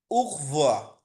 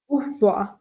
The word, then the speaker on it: au revoir: উখ, এ ইউ এর উচ্চারণটা হচ্ছে উ, আর আরটাকে সরাসরি ধরে নিতেছে, মানে একসাথে উচ্চারণ করতেছে উখ ভোয়া। ভি ভে ও ই এক, মানে উখভোয়া, লাস্টে আর এর উচ্চারণটা হবে না।